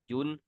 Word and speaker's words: une: Okay, आ लिखेंगे, आ, यून और दे।